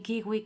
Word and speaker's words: kiwi: Por otro lado, Walkman y Kiwi conservan la W, la cual se pronuncia como en inglés.